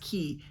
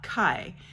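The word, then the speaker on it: Ky: a young woman named key now I want to point out that at the beginning of this book they do a thing like how it's pronounced key and not Kai or k or whatever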